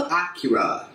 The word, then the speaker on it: Akira: Number 9 is another Japanese animated film, a little movie called Akira. I'm of course pronouncing it the right way, everybody else calls it Akira, but I call it Akira.